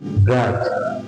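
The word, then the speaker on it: grudge: খেয়াল করতে হবে ডি এবং ডি পাশাপাশি বসার কারণে এখানে কিন্তু ডি উচ্চারণ হচ্ছে না, সরাসরি উচ্চারণ কি? গ্রাজ, গ্রাজ, গ্রাজ অর্থ কি?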